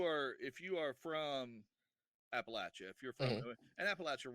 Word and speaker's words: Appalachia: a family that's latcha appalachia just relax if you say it wrong paul steve will throw an apple at it that's how you gotta remember it that's how you remember if you say appalachia i'll throw an appalachia and the reason people